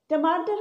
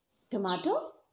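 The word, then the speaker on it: tomato: टमाटो British English में और टोमेटो American.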